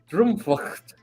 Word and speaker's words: Droomvlucht: me personally, to pronounce, because all the consonants are at the end. So it's You have the CHT. Droomvlucht.